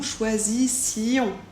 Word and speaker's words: choisissions: i o n s on ne prononce pas le S et le o n se prononce on nous choisission vous choisissiez pour vous